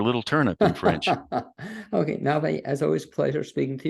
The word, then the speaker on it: Navé: Navé is spelled Nave. It means bad movie or little turnip in French. Okay, Navé, as always, pleasure speaking to you.